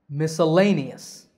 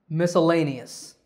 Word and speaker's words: miscellaneous: word looks confusing but the pronunciation just has five syllables the stress is on the third syllable lay the key to saying